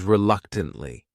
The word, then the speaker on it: reluctantly: The next word is reluctantly. This word has 4 syllables, and the stress is on that second syllable. That third syllable also has that schwa.